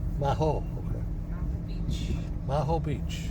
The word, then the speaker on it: Maho: The pronunciation of this is Mahaho. Maho. Maho.